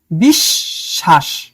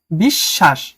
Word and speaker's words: বিশ্বাস: যেমন বিশ্বাস স এর সাথে ব লাগানো তোমার উচ্চারণ করতে হবে দুইটা স বিশ্বাস। কয়টা হইলো? বিশ্বাস।